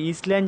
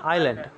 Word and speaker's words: island: দেখো long ago, দেখো long ago মানে অনেক অনেক দিন আগে, ইন দ্য বিউটিফুল আইল্যান্ড, এই যে ইসল্যান্ড যেটা ISLAND না, এটা উচ্চারণটা কিন্তু কী হবে, আইল্যান্ড।